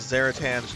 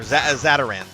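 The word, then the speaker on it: Zatarain's: Still feeling under the weather uh whether it was Zeratan's jumbolaya. Oh, okay. Got some cinjun food or zataran is how it's pronounced.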